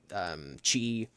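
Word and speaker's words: χ: Also, the thing with using that symbol is some people pronounce it key, some people say chi.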